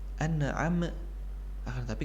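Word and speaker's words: أنعمت: Karena banyak dari orang yang membaca kedua huruf ini seolah-olah ia adalah huruf qalqalah, ada pantulan di dalamnya. An'am, an'am, dan ini kurang tepat. An'am, tapi kita membacanya harus mengalir. An'amta, tanpa ada pantulan di kedua huruf tersebut.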